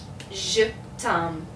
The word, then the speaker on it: je t'aime: And then So this is pronounced je t'aime.